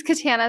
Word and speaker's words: Katana: My name's Katana. If you can't pronounce that, it rhymes with banana.